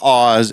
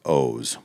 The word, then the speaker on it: Oz: It looks like Oz. Everybody would say Oz, but it's O's. We pronounce it O's. Yeah. Now, wouldn't he have to have an E on the other end of it to be O's for a long O?